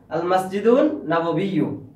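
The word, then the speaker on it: المسجد النبوي: তা হাজা অর্থ ইহা, আল মসজিদ নবী, মসজিদ নবী, আমরা বাংলাতে বলি না মসজিদ নববী, ওইটাই আরবিতে বলে আল মসজিদ নববী, মসজিদে নববী, আরবিটা উচ্চারণ করো আল মসজিদ নববী।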